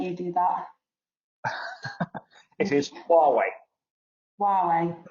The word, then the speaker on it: Huawei: actually talking about earlier so how would you pronounce the name I want you do that it is Huawei Wow right okay so why is actually like